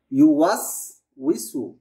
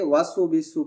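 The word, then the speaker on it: يُوَسْوِسُ: ওয়াওয়ের উচ্চারণ সবসময় ঠোঁট গোল করেই হয় এবং উই হবে, ওয়া উই।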